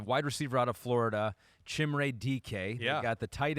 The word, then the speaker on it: Chimere: Chimere? Is that how you say it? Chimere Chimere, okay.